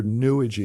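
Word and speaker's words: New Age: lot of you know new AG which I really pronounced that we're new AG because it rhymes with sewage II new AG sounding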